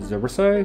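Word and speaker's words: xorriso: the third dependency is called zorisso spelt with an x then the final dependency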